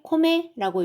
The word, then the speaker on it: 米: 쌀값이란 뜻입니다.요 쌀자는 그냥 요렇게만 써져 있으면 코메라고 읽죠. 그다음에 현미일 때는 또 겟마이라고 읽습니다.